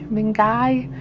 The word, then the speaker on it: mingai: Mingai or dashy? I've decided it rhymes with fungi, but it's mingai.